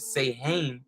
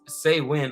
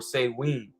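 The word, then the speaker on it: Samhain: meaning summers in and though we're probably tempted to pronounce it say hey it is actually pronounced as say when or say win all right what is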